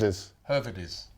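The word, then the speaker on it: Höwedes: is this guy Benedict howedes I don't know if I pronounced that right her is okay her is I forgot in Germany W pronounced as a v her is well when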